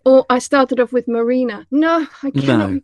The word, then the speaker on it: Marijne: It's just a Dutch name with a weird, you know, J in the middle that in English would be pronounced.